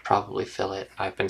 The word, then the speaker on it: fillet: edge here uh and that's what the uh fillet tool does I'm going to have to look